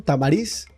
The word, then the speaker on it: Tamariz: Tamariz. ¿Está correcto la pronunciación?